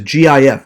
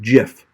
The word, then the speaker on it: GIF: not a it's a gif by the way it's pronounced gif not jif because the g of the gif is the word graphic so obviously it's gif